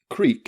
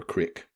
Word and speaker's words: creek: Creek is always given its true E sound, never crick.